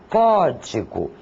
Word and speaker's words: código: Por exemplo, a palavra código. A intensidade maior é dada na sílaba có.